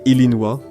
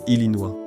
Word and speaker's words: Illinois: En 1818, le Congrès a conservé l'orthographe française du nom, mais changé sa prononciation. Au lieu de prononcer Illinois, ils ont choisi Illinois.